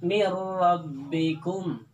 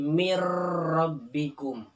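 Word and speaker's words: min rabbikum: mendengung alias tidak digunakan contoh dalam kalimat mirrobbikum mirrobbikum itu bacanya idgham Jangan dibaca Ilham Ya seperti mint robbikum tetapi rok Nya Ingat jangan terlalu menggetar seperti Miro bikum yaitu roknya tidak terlalu menggetar Hai jatuh yang kedua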